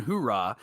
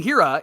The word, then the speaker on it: Hiura: A that's causing a big stir it's Carson hurah and I'm just kidding it's well done I had to I had to mispronounce it right uh Kon Hira is the guy that's causing a lot of